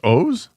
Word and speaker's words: Oz: Is it pronounced O's? It is. Yeah, it is. Yes. I still say Oz, dude.